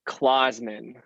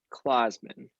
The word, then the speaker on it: Clasemann: yes you pronounce it clausman i always say it's like santa claus men clausman that's all i had